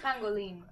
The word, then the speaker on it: Pangolin: buttons but see even the chat is telling you how to say it's Pangolin come on Pang Pangolin yes